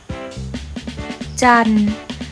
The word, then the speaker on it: จันทร์: ข้อ มี ทัณฑฆาต กำกับ จันทร์ เรียก ว่า ทร การันต์ หมาย ถึง ตัว ทอ และ รอ ซึ่ง ไม่ ออก เสียง เพราะ มี ทัณฑฆาต กำกับ